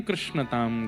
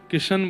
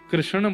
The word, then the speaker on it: कृष्ण: कृष्ण इस शब्द का उच्चारण कई लोग शुद्ध नहीं करते। क्योंकि शुद्ध कर लेंगे तो फिर भगवत प्राप्ति हो जाएगी। इसलिए सब लोग इस नाम को कोई किशन बोलता है कोई कृष्ण बोलता है कोई कुछ बोलता है